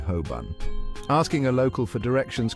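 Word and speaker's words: Holborn: or how about hban it looks like hbor but locals say Hoban asking a local for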